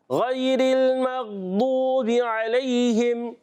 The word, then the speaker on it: غير المغضوب عليهم: صحیح تلفظ اس کا ضاد. ضاد. غیر المغضوب علیہم.